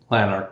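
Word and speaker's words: Lanark: your uh home properly is it lanar or lanar what's the best way to say it lanarch yeah lanarch yeah so tell us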